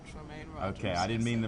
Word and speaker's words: Tremaine: I was mispronouncing it. Tremaine. Tremaine Rogers.